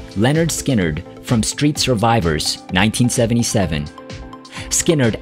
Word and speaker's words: Lynyrd Skynyrd: number one simple man Leonard Skynyrd from pronounced Leonard Skynyrd 1973.